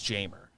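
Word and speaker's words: Jeimer: his first name but that is how baseball reference said to pronounce jamer yeah so i think you do hit the j but good night yeah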